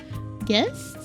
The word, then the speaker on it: gist: Why is it pronounced with a J? It's gist. Like Geist, but without the E. Gist. No, it's not a soft G.